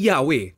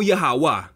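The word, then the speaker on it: Yahweh: adonay na nangangahulugang Lord kaya't ang pagbigkas ng yhwh ay yahwe o yaha at sa YH bh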